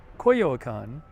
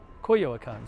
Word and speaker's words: Coyoacán: So Coyoacán.